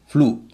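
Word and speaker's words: flu: पहला है फ्लू, एफ एल यू। एफ एल यू में एक ही सिलेबल है, इसमें एक ही वोवल है, एक ही सिलेबल है। इसमें यू शब्द के अंत में है, उच्चारण हो रहा है ऊ।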